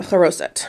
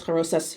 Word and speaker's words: charoset: And finally, charoset, which is, I keep turning this around, I'm sorry. Charoset, that one, charoset, or it says charoses here, but that's just another pronunciation.